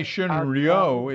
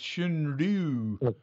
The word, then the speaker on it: Shunryu: Don't say Shunryu, it's Shunryu.